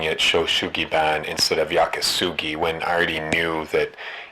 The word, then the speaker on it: yakisugi: I was calling it Sho Sugiban instead of Yakasugi when I already knew that Yakasugi was the right name, but I couldn't come up with a decent answer.